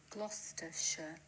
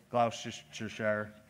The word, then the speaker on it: Gloucestershire: here check check check okay here we are gloucestershire lollards now you see that was not just the proper pronunciation but also in the beautiful accent that